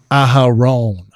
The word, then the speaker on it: Aharon: Aharon. Yeah, you got it. It's It's Aaron in Hebrew. It's Aharon.